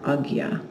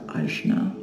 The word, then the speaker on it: Ajna: the second class in our agya series or ajna or anya depending on how you've heard it pronounced which is the third